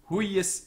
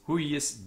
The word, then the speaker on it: huius: Hic Deus, the also huius, the Y is also doubled, and so the first syllable is tense, huius. Huius, it's got a tense first syllable, or a heavy syllable. It's a short vowel, but it is tense.